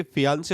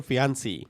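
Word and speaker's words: fiancé: और तुम्हें बता दो कि फियांसे और फियांसी दोनों की स्पेलिंग सेम रहती है, लेकिन जेंडर पे नेम चेंज हो जाता है। लड़की के लिए फियांसी यूज होता है और लड़के के लिए फियांसे।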